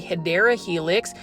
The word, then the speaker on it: Hedera helix: They're kind of like the Hedera helix, or the correct way to say it is the Hedera helix, or English ivy.